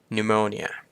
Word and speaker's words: pneumonia: นั่น เอง ต่อ มา pneumonia pneumonia ก็ คือ โรค ปอด ปวม นะ ครับ ผม ตัว P ไม่ ออก เสียง นะ pneumonia ถัด มา ค ค